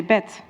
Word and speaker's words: bed: You hear the difference between in English we say bed, in Dutch we say bet.